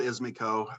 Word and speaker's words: IzMaCo: my company it's called izmico i named them i named it after my three english bulldogs izzy man coco because